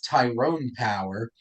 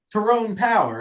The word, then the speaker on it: Tyrone Power: IR it's narrated by who I thought was Tyrone Power until he's like I'm terrone power I'm like I've been saying your name wrong whole entire time which it was so